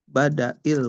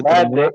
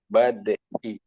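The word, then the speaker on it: بدء: Ee dari Aisyah radhiallahu anha ee fi badail wahyi di di badii bacanya ya. Dalnya cukup badii.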